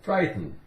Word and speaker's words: frighten: Frighten, frighten. We don't really make much of a sound with that T. It's more like frighten, frighten. T is pretty much silent too.